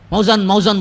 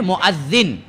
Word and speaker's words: مؤذن: اسی سے مؤذن ہے، موزن بولتے نا، موزن بولے تو موزن کھا لے کچھ کھانا سو. اس کی اصل تلفظ جو ہے مؤذن، ہاں اذان دینے والا.